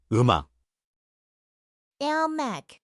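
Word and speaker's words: 음악: It's spelled eung a k, but the m slides over, so we say eum ak.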